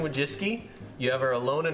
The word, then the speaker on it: Wojcicki: Yeah, Susan Wojcicki. You could. That's not actually how you pronounce it. You have her, Susan Wojcicki.